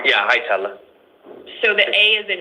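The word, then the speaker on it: Hietala: Yeah, Hitella. So, the A is an E. Um, it's it's H I E T A L A. Okay. So, the first A is pronounced like an E.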